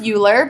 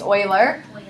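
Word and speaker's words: Euler: name is there it looks like it says uler but it's actually pronounced Oiler um that's one of my like math feature of pet peev when um people call this man uler his name is Oiler um we will encounter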